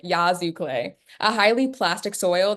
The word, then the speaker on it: Yazoo: Yeah, Mississippi has clay soils, like Yuzu clay, sorry, sorry, Yazoo clay. That's how you pronounce it. Mississippi has clay roads like Yazoo clay, a highly plastic soil that swells when wet and shrinks when it's dry.